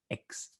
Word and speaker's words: X: You can just pronounce it X.